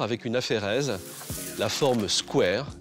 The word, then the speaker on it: square: Prononcé à la française Squar, il s'applique un jardin public étendu et figure dans le dictionnaire de l'Académie française depuis 1878.